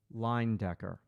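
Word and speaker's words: Lyndecker: I I um line Decker. Line Decker is um So, let me spell it for you.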